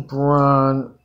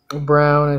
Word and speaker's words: Braun: in oh let's go Christian Braun Brown I think is actually how you say it let's see who's the